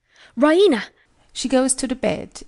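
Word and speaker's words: Raina: she pronounces it the Rena with the stress on the E Rena she goes to the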